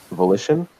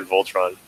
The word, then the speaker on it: Volition: This was the Voltron one. Volition. Volition. I said Voltron. It's spelled really weird, for the record.